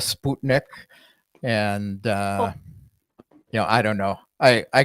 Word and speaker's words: Sputnik: But then, most Americans say Sputnik instead of Sputnik.